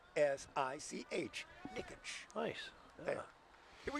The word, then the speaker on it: Niksch: So if you're looking for a future autograph on a baseball frame, his last name is spelled Niksch. Nikich.